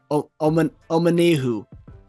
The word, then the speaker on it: Omenihu: So on Charles, I wrote his name down phonetically just so I get it right. Omenihu.